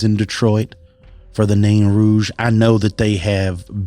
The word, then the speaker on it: Rouge: I don't know if it's Rouge or Rogue, right? I think it's Rouge. The Nain Rouge is, I believe, how it's supposed to be pronounced.